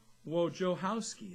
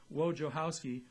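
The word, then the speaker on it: Wojciechowski: Cincinnati right-hander pitcher a sure Wojo house key that's how the pronunciation says in the pronunciation guided big long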